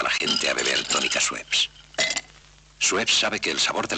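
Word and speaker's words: Schweppes: Es un nombre superdfícil de pronunciar. De hecho, cuando los 80s llegó al mercado español, tuvieron que hacer una campaña que se llamaba swep que donde enseñaban, ¿no? Educaban al público español a saber pronunciar sueps.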